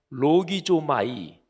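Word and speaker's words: λογίζομαι: 그러니까 여길지어다 이렇게 번역된 헬라어 동사가 헬라어 발음을 하면 로기조마이 이렇게 발음하는데요, 이 단어는 긴가 민가, 사실인지 아닌지, 근데 일단은 그렇다고 치자, 이런 뜻이 전혀 조금도 없는 단어입니다.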